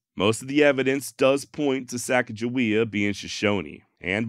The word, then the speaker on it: Sacagawea: evidence does point to Saka jaia being shishoni and modern day shishoni do say her name as sakaia look in all reality